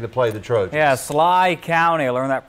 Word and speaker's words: Schley: was in making to play the truth yeah Sly County learned that pronunciation just recently they went 10-2 a year